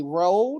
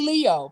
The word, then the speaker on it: Leo: But it's they put, they say Ro, they say all kind of other stuff Mm. instead of just calling me Leo.